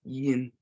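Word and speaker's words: ཡིན: So this is a very common word because it's to be in Tibetan, and it's yin, yin. The N is pronounced, and this is fairly common.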